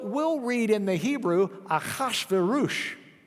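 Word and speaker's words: אחשורוש: So we'll read in the Hebrew, Achashverosh. The ah sound means we're borrowing a foreign word.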